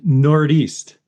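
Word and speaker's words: Nordeast: belt beer ah the the noreast the noreast I don't know if that's how you say it but that's on nor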